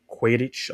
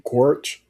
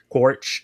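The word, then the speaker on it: Quaritch: It was more focused on her relationship with Quidditch or Quadic or however you say his name. Quoric. Quoric. Yeah.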